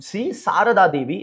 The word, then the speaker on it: Sri Sarada Devi: Um Sri Sarada Devi is how you would pronounce it, who is a spiritual consort of Sri Ramakrishna Paramahamsa, right?